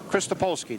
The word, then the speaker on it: Krystolpolski: To my immediate right is Krystolpolski. Did I do that okay? Right.